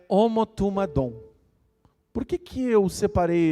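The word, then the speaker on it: ὁμοθυμαδόν: A palavra grega, a palavra reunidos, nesse caso aqui, é uma palavra grega que pronunciada é homotumadom.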